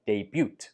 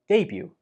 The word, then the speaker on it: debut: There is no t sound in this word, even though the spelling uses the t, do not pronounce the t. So do not say debut. Say debut.